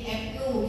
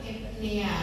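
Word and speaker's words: eupnea: nanti eh epne ya bacanya dulu pakai epne epnu gitu ya tapi sekarang epnea gitu ya ini adalah normal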